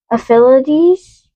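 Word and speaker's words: ephelides: There are two primary classifications of freckles: aphylides. Mm-hmm. The way you put D's. What? That's how you pronounce it.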